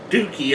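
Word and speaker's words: Douki: I like Doki too. Or Dookie as they pronounce it. I always say Doki, but for some reason they pronounce it as Dookie, so I don't know. I've heard it both ways.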